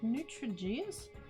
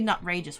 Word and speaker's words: Nutrageous: Is it like Nutrigeous? Or is it Nutrageous? Oh, it'd be Nutrageous, wouldn't it? Now that I've said it out loud, it's like, oh yeah, totally that.